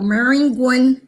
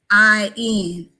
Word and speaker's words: Maringouin: a little town west of Baton Rouge called Maringouin, Louisiana. I'm gonna spell it because as we move on along in our conversation, you're gonna want to know about Maringouin. It's okay. Maringouin, and it's actually French for mosquito.